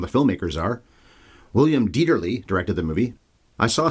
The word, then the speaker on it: Dieterle: William Dieterle directed the movie. I saw something about how it's pronounced Dieterle, with a le sound at the end, but I've always heard Dieterle, so I'm sticking with that.